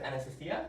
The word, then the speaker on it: Anastasiya: Today we're with Anastasiya. That's the correct way to pronounce her name, just so you know.